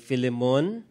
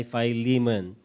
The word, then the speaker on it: Philemon: Baka humatawa kayo, ito po ay pronunciation sa English. Kasi pag tinagalog po ninyo ay Philemon, sa US English pronunciation ay Philemon.